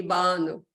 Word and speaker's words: Banu: So the Turkish way, I'm from Turkey, the Turkish way will be Banu. We stress the first syllable.